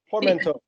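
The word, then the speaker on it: portmanteau: so I'm going to ask Kale can you pronounce that kale for me Port.Man.Teau so basically it's a mash-up of an iPod,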